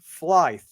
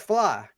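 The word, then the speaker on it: Flythe: know if you know it's not it's f-l-y-t-h-e yeah and I get pronounced flight but don't ask me it's fly it's just fly and when I see what just pretend like the t-h-e isn't there like Marty McFly exactly everybody I got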